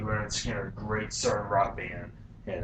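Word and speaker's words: Lynyrd Skynyrd: by Leonard skin from pronounced Leonard skard obviously Leonard skard great St rock band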